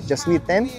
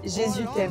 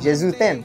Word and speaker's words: Jésus t'aime: been here, and like the French I did learn was je suis t'aime. Is that how you say it? Like to say I love you? Jesus loves you? Ah, yeah. Jésus t'aime. Jésus t'aime, yeah, right?